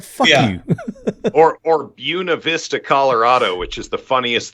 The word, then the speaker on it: Buena Vista: or Buena Vista, Colorado, which is the funniest thing ever. It's Buena Vista, but they're like, nope, that's not how you say it.